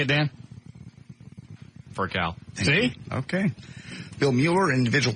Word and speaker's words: Furcal: Furcal.